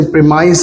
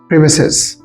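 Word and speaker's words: premises: इसी तरह प्रेमिसेस एक वर्ड है, ये प्रेमिस एक वर्ड है जिसे प्रीमाइस कहा जाता है। प्रीमाइस गलत प्रोनंसिएशन है और सही प्रोनंसिएशन है प्रेमिसेस।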